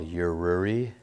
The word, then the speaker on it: Yururi: a Japanese company called yururi that's a spelled phonetically it's y Ur URI it's out of Japan